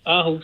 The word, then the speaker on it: Aarhus: Hey, it's so nice to hear from you in Aarhus. Am I saying it right? Yeah, that's fine. Yeah. Oh, Aarhus, yeah.